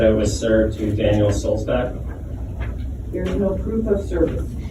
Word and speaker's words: Sulzbach: It's Daniel Solzbach, as in like John Sebastian Bach, like the composer, the musician, Bach. Not Bach, not Buck, not Burger, Daniel Solzbach.